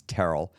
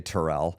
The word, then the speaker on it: Terell: to say them correctly my last name is Terell a lot of people say Terell some of you right now are going to be like I've been saying his name wrong the whole time I don't feel bad about it people say it wrong all the time um but